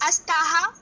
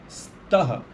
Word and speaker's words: स्तः: उसी प्रकार अस्ति, स्तः, इसको अस्तः नहीं बोलना है।